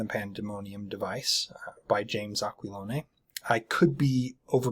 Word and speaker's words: Aquilone: pronunciation um I again I could be wrong this looks like an Italian name so I'm pronouncing it as an Italian name um it could be Americanized Italian even it could be like aqualon or something of that nature pardon me if I'm